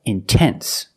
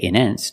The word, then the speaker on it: intense: If you have a stress after the NT, if you have a stressed syllable after NT, then you have to pronounce the T. Example, intense. I put the stress after the NT, so I have to pronounce a T. I cannot say immense. No, it's intense.